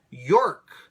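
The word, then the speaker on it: Yourke: Lefty David York goes, that's spelled actually Your, Y-O-U-R-K-E.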